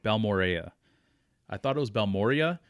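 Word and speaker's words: Balmorhea: But I was down there for I think I'm going to say it right, Balmorea. I thought it was Balmorea, but it's not. So I think it's Balmorea.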